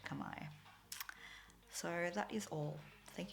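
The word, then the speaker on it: kamay: means hands guess why so that's pronounced kamai i know that i think a lot of english speakers will want to pronounce it kame but it is indeed kamai so that is all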